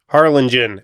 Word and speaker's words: Harlingen: Harlingen.